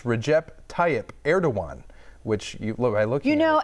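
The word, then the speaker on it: Recep Tayyip Erdoğan: Recep Tayyip Erdogan. Close on the last one, Kinda Erdogan. close. So it's Recep. Let's see if I can even get it. It's Recep Tayyip Erdogan, which you look.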